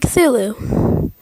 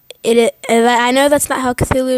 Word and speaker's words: Cthulhu: There's light and there's darkness, or there's the Moon Lord and Cthulhu. I know that's not how Cthulhu is officially pronounced, but that is how I'm going to say it.